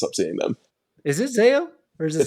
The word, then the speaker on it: Zao: Is it Zayo or is it Zao? So it is technically pronounced Zayo, but there's no right way, wrong way to say it. Yeah. But so you can say it Zao.